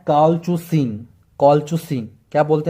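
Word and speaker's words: colchicine: आपका ये है तो इसका प्रोनाउंसिएशन है कॉलचुसिन।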